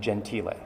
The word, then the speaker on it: Gentile: in the italian surname gentile which is spelled g-e-n-t-i-l-e but i look at that and i just say gentile because i speak italian and i know the correct pronunciation one of the restaurants